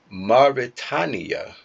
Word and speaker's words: Mauritania: Mauritania. My bad. Mauritania. Like Mari Povich and then Tanya.